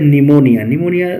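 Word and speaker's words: pneumonia: एंड शी हैड निमोनिया. Look at this spelling, P silent here.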